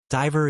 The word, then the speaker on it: diver: Diver has a long i vowel sound, whereas river has a short a vowel sound. Now, diver rhymes with driver while river rhymes with giver.